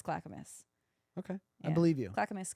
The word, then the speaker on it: Clackamas: Clackamas Oregon Clackamas Clackamas maybe I'm saying it wrong maybe it's clockamus I think it's Clackamas okay I believe you